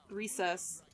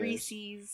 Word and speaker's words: Reese's: Well, you also thought Reese's wasn't pronounced the way it is. Recess. No. Say it right. Face your failures. Reese's.